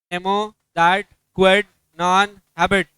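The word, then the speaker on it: nemo dat quod non habet: तुमको अभी तक प्रोनाउंसिएशन नहीं समझा क्या उसका? नेमो, दैट, क्वेड, नॉन, हैबिट।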